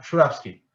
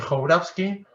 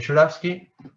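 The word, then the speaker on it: Jourawski: El nombre de ese error que les dije era Juravsky. Que no se dice Jourafsky, se dice Juravsky.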